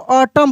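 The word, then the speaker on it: autumn: उसके बाद रहता है ए यू टी ए यू टी यू एम एन तो इसको हम लोग ऑटम पढ़ते हैं।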